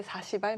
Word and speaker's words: 40R: 하고 있는 건지도 모르겠는데 40 발이 맞는 발음 인가요 4 40알 맞습니다 이제 신주인수권 증서 를